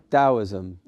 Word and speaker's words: Taoism: the same is that correct it should be pronounced dosm and uh that's a great image because uh